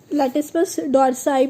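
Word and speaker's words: latissimus dorsi: लैटिस्मस लैटिस्मस डोर्साई भी पढ़ते हैं और लैटिस्मस डोर्सी भी पढ़ते हैं, तो बट अच्छे से हमको याद रहे इसलिए हम लोग उसको क्या पढ़ते हैं? लैटिस्मस डोर्साई, क्योंकि डोर्सी में स्पेलिंग गलत हो जाती है, ई का आ जाता है।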